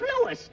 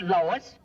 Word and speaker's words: Louis: Me name is Louis, not Lois. Gee whiz, everybody in Twipolate's me name wrong. It's Louis.